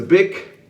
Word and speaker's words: Bic: Bic razors, I think it's pronounced Bic. I looked at the pronunciation beforehand. It is Bic.